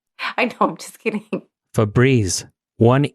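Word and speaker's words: Febreze: it is I guess spelled as for brez but it's pronounced for Breeze and there's only one e well I'm going to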